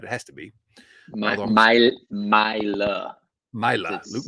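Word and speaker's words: Maile: No, they signed Luke Mail And actually, I presume that's how you pronounce that. Now I'm looking at it, it has to be. Myla. Myla, Luke It's Myla.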